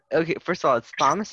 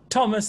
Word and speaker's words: Thomas: with a hitch and it's always just the T sound I'm it's just the T it's just a straight a sound so Thomas the Tank Engine is